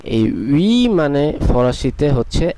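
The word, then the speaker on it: huit: এর উচ্চারণটি হবে ওনস, যেটি নাক থেকে আসতে হবে, এবং এটির উচ্চারণ হবে উই, অথবা যেভাবে আমরা ইংলিশে উই বলি সেইভাবে।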